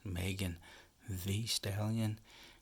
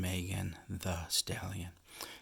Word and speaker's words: Megan Thee Stallion: Today we have ELLE magazine, May 2023, and on the cover, her pronunciation, I've heard it pronounced two ways, Megan Thee Stallion and Megan the Stallion. So I guess either is acceptable.